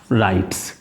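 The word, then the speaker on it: write: भी प्रोनाउंस करना है लिखा जाता है व के साथ जिसे हम लोग एक साइलेंट बोलते हैं और पढ़ा जाता है इसे राइट में समझना होगा या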